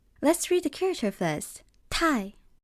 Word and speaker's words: 太: 太, 太, too, as in too much of something.